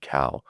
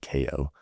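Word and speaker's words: Kao: And I remember uh a friend of mine, a guy named another actor named Archie Cow, um, I always say it wrong. his name's he calls himself Archie Ko but um um so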